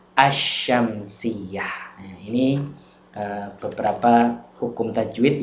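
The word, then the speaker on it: الشمسية: Tapi kalau alif lam syamsiyah membacanya lamnya masuk pada huruf setelahnya, bukan al-syamsiyah tapi membacanya adalah asyamsiyah.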